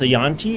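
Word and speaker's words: Yuan-ti: So, this I believe is pronounced a Yanti.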